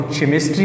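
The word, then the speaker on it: chemistry: और इस तरह की मशहूर स्पेलिंग है आपकी जो केमिस्ट्री है, तो इसको हम केमिस्ट्री नहीं बोलते, CH केमिस्ट्री बोलते हैं।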